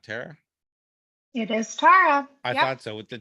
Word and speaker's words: Tarra: when I was born my parents wanted my name to be pronounced Tara but only spelled it t-a-r-a so on my original birth certificate it's t-a-r-a and then my father got really pissed off that people were calling me Tara so he went down and changed my name when I was about three months old to t-a-r-r-a uh so people would